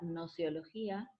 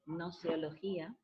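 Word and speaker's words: gnoseología: Esta problemática es el contenido de una disciplina filosófica llamada nociología. Anoten esa palabrita, se escribe con G al principio, no suena pero se escribe, nociología, y que significa teoría del conocimiento.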